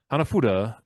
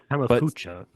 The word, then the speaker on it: Hanafuda: for producing a handmade Hanafuda playing cards. I don't know if I pronounced that right. I did my best, Preston. Hamafucha. No, there's an F in there. There's no ch.